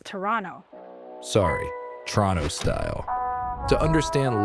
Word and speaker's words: Toronto: You gotta start pronouncing it right. It's Toronto.